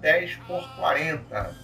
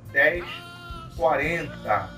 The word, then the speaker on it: 10/40: Primeiramente, gostaria de alertar que não se fala janela 10x40. Se fala janela 1040. Se escreve 10/40.